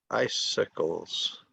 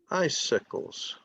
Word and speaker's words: icicles: icicles icicles um it's like saying ice and sickles but there's a s in the middle so everybody just says icicles icicles icicles okay do you get